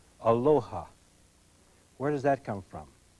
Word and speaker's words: Aloha: And everybody who goes to Hawaii has to learn how to say it like the Hawaiians say it. Aloha.